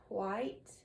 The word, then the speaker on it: white: So, this is the word white and this is wide. Watch what happens when I say wide and white with a feather. Does it move or not? Wide white. Ah, it does move.